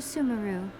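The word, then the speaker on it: Sumeru: would be easiest for you to go to sumaru oh sumaru we've run into loads of Scholars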